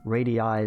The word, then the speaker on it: radii: Plural radii. So you pronounce both of those I's in two different ways.